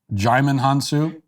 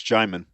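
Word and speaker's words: Djimon Hounsou: Apparently I'm pronouncing his name wrong. Is it Digimon? Digimon Hansu? Yeah, it's Digimon. Okay, I just Googled it.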